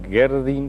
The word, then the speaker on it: Gerdin: Para ello nos acompañan la profesora Graciela Barreto, miembro de esta pastoral, y el padre Gerdin. ¿Cómo se pronuncia tu apellido?